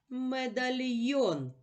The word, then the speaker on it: медальйон: о наголошений другий склад що це медальйон постав наголос який голосний наголошений медальйон наголошений голосний о і наголос падає на останній склад а мителик приготував для